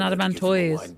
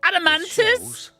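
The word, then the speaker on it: Adamantoise: I do you do I thought it was an adamant to not an adamantis well any old adamantis do it's pronounce adamantis the older the harder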